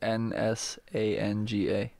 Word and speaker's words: Nsanga: That I don't know how to pronounce because I don't know if the N is silent or not. I mean, Mbembe we say, right? So it's Nsanga. Yeah? Nsanga? Inform me. It's Nsanga.